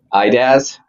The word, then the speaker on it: IDaaS: how do you So pronounce while we the acronym for identity as a service? IDaaS.